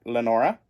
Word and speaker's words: Lenora: this book follows Lenora I was saying Lena in the last video but it's Len Lenora de laasa talin who